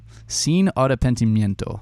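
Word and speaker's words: Sin arrepentimiento: just had to ask the artist how to pronounce it scene arta pentimiento there we go artapentimiento cine autopentimiento there we go so uh that song is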